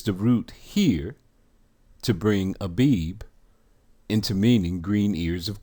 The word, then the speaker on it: Abib: Strong's H24, the word is Abib, transliteration, Abib, pronunciation, Aw-beeb.